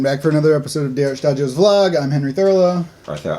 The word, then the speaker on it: Shtajio: Hey everyone, back for another episode of Shtajio's vlog. I'm Henry Thurlow. Arthell, Isom. Once again, the pronunciation is Shtajio.